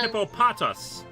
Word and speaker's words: Hippopotas: Gojira, it's pronounced pronounced hippopotas.